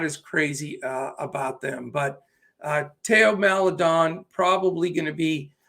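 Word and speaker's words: Théo: From the Oklahoma City side, if Trey Mann sits, it's probably going to be Teo is how it's pronounced.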